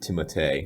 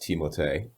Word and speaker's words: Timothée: Timothy Chalamet, or I believe he pronounces it Timothée because it's French.